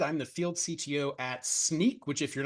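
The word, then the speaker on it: Snyk: the field CTO at sneak which if you're not aware is pronounced like sneaking around or a pair of sneakers it's also an acronym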